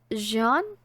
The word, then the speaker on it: Jean: Is it Jean or Jean? Because apparently it sounds like John. So I'm thinking it's pronounced Jean, Jean gets transferred to